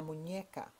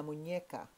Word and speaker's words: muñeca: Now, the way you pronounce wrist, la muñeca. The N with the squiggly line, which is called a tilde, actually is an NY sound. Repeat after me, la muñeca. Again. La muñeca.